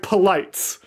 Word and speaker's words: Polites: never forgotten sense and Poes is literally spelled like the word polite with an S so it's literally you really cussed and polites and if you can